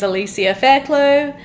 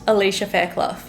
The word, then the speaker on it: Alicia Fairclough: My name is Alicia Fairclough, not Alicia Fairclough.